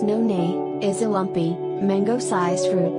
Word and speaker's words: noni: asia especially in polynesia noni pronounced non-a is a lumpy mango-sized